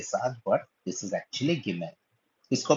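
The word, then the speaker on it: גימל: जो तीसरा अक्षर है उसको हम लोग कहते हैं गिमेल। गिमेल, इसका उच्चारण भी होता है ग का, लेकिन सबसे पहले इसको लिखना देखते हैं हम लोग।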